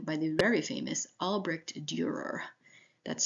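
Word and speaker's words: Dürer: in a grieving by the very famous Albrecht Durer that's spelled a-l-b-r-e-c-h-t Durer d-u-r-e-r if you just search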